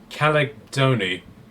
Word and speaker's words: Chalcedony: Right, I've never been able to pronounce this. Caledony. Chalcedony. Yes.